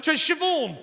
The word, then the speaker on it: Siobhan: i said to her so what's your name shavon i went oh that's one of those tricky